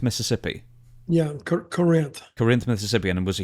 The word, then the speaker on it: Corinth: I live in Corinth is that how you pronounce it Corinth Mississippi yeah Corinth Corinth Mississippi and was a huge fan of